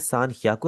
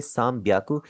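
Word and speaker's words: さんびゃく: इसी तरह यहाँ पर इसे सान ह्याकू आप कभी भी नहीं बोलेंगे, आप इसे बोलेंगे साम ब्याकू।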